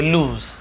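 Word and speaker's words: lose: हो जाओगे हर जाओगे लूज हर जान इसे ऐसे लॉस नहीं पढ़ेंगे लूज लूज ऐसे पढ़ने हैं स्पेलिंग यही है लेकिन पढ़ने हैं लूज है तो आप क्या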